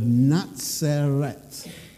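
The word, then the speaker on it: נצרת: Now, the word Nazareth, the name in Hebrew, is the word Natseret. That's how it would have been pronounced.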